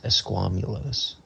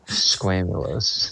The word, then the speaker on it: esquamulose: it's probably squamulos. Esquamulos. It's not a squamate. I guess. But spell it. That's why we're here. Esquamulous. ESQUAMOUSLOS. Squamoslos. You're pretty close. The word is ESQUAMULOSE. Esquamulos. which the first definition, like I said, not squamulose. Not squamulous. It says, so apparently this